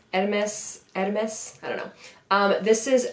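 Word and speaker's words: Hermès: From my understanding, the H is silent. Hermes, I don't know.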